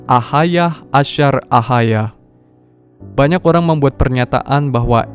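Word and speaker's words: אהיה אשר אהיה: Aku adalah aku di bahasa modern Hebrew tertulis Eyeh Asher Eyeh. Ngomong-ngomong, saudara bisa cek tulisan asli dengan menggunakan Strong's Concordance. Sebetulnya secara teknis di bahasa Ancient Hebrew, ini dibacanya Ahayah Asher Ahayah.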